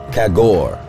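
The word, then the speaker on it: khagore: Kagor. Pronunciation, kagor.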